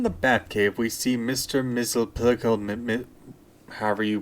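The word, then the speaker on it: Mxyzptlk: Batcave we see Mr mle however you pronounce his name no repeat after me bright boy it's mix yes SP lck he is standing next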